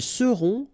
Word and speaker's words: seront: end, et serez, ils seront, final T not pronounced, elles seront.